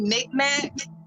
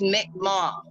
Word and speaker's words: Mi'kmaq: Micmac, but it's Mi'kmaq. It's pronounced Mi'kmaq tribe.